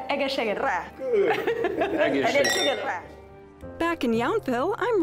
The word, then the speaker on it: egészségedre: Say, please, say egészségedre. Egészségedre.